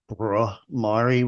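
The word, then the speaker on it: Bhramari: Tough word for the people of Asheville to muckle on to because it starts with a B-H-R, Brumari. We didn't know how to pronounce that word. It's a Hindi word, turns out.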